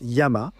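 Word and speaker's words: 山: La montagne, eh bien, le kanji pour montagne, qui se prononce yama, vient aussi de ce qui aurait été à l'origine un dessin d'une montagne, non?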